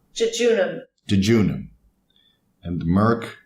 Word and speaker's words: jejunum: Let's see what Google says regarding its pronunciation. Jejunum.